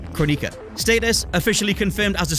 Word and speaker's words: Kronika: Number 9, Kronika. Status, officially confirmed as a story character, but playable to be confirmed. Yes, it's pronounced Kronika, this time-manipulating sorceress is being retconned into the